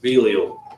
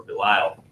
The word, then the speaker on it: Belial: Now the sons of Eli were sons of Belial, or Belial, depending on how you pronounce that.